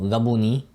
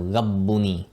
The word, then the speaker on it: rabbuni: So people might say, for example, rabuni instead of rabbuni, right? Rabbuni. Right? You really want to make sure that you have that shadda on the ba to make rab, right?